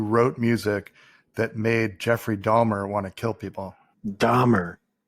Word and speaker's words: Dahmer: an l in there dolmer jeffrey palmer no the real killer that got the serial killer his name spelled with an h not an l but it's pronounced dahmer no it's dahmer yes dahmer that's how